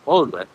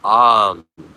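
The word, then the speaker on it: Aum: Yes, but actually a small correction is that it's not Om, it's Am. This is the universal sound. Starts in the base of the belly, chest, mouth. Om is a mispronunciation.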